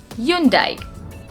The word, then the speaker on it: Hyundai: The next word is Hyundai.